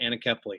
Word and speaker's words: anencephaly: It wasn't until after the death of our first child from a condition called anencephaly, or some pronounce it anencephaly.